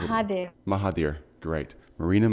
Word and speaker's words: Mahathir: i pronounced that right as well is it maha theor haha maha theor I'm sorry I'd cut out just like hi there mahaveer great marina Mahathir excellent oh thank you first of all for